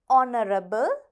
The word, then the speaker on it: honorable: Psychology, honorable, knowledge, leukemia. இப்போ நீங்கள் இந்த 4 வார்த்தைகளை பார்த்தீங்கன்னா இதில் சைக்காலஜியில் ப வந்து silent, honorableல h silent, knowledgeல k silent.